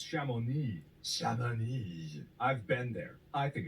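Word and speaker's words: Chamonix: to you to you telling you how to pronounce it and you saw it it's shamoney I've been there I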